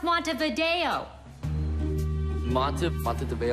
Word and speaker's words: Montevideo: capital bureau of ways Monday the grill it's pronounced Montevideo lots of but the debate I wanted to